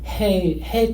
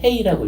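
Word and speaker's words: ה: 저게 알파벳이 뭐라고 읽냐면은 해 또는 헤이라고 읽어요. 헤이.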